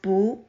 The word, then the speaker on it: 不: before the fourth tone word it should be pronounced as boo here are some examples next let's look at